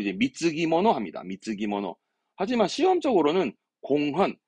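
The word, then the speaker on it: 貢ぎ物: 그래서 우리말로는 공물 쓴 건데 발음을 이제 미츠기모노 합니다.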